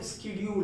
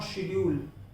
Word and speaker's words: schedule: This is the pronunciation of स्केड्यूल, नॉट शेड्यूल. ये पहले था शेड्यूल कहा जाता था, अब इसे स्केड्यूल पढ़ा जाता है.